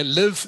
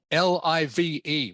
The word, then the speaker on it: live: so live and live this word can be pronounced two different ways and the only way you know which one is correct is by the context of the sentence that the word is in I've said this many